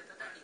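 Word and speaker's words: 三和土: これは私が叩き土間、三和って書いて叩きって読むんですけど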